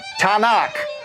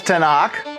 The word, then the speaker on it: Tanakh: And you throw in a few syllables between the Tau, Nun, and the Kaf, and you get the word Tanakh.